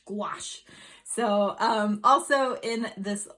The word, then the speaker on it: gouache: asked for it i asked for gauche i believe or gouache that's not how you pronounce it squash like go wash gouache so um also in